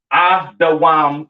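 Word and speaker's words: אדום: Pronounced Adawam in the Hebrew, all right?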